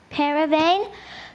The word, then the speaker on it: paravane: Can I have the alternate pronunciation? Just paravane.